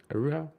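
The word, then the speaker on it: Araújo: This upcoming weekend, it's Grasso versus Araujo, if that's how you pronounce it. Araujo?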